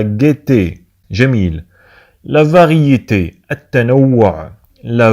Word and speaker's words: gaieté: انتبهوا معنا تكتب la gaieté لكنها تنطق la gaieté.